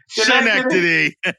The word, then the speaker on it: Schenectady: Schenectady. Wow, little do they know that they've been mispronouncing their town for the last 200 years.